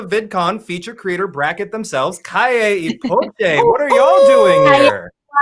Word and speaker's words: Calle y Poché: Calle y Poché. What are y'all doing here? Guys, I love how you pronounce our names.